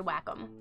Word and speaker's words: Wacom: like a terrible artist it is pronounced Wakeham it probably is pronounced Wakeham but me and Emma are gonna say Wacom because it's funny but take you AJ